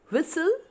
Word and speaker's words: whistle: Here in all the three words, the letter L is silent. Next is words with T silent. Whistle, nasal, castle.